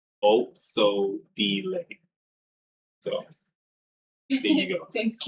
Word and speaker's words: Otshabile: Uh, her name looks like that, but it's pronounced Otsobile. Otsobile.